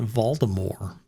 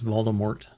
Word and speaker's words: Voldemort: the way i mean he was pronouncing it voldemort and that just drove me nuts and because i've always heard it as voldemort um so for whatever